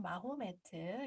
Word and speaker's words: 무함마드: 영어 발음으로는 마호메트, 요렇게 발음합니다.